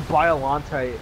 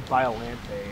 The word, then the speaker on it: Biollante: oh he pecks like crazy yes yeah she mispronounced another holy oh yeah she called biollante biollante violente and i was like oh my god i